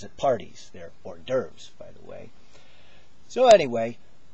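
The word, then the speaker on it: hors d'oeuvres: uh you know ask you to pass the hores devores at parties there or derves by the way so anyway why a gray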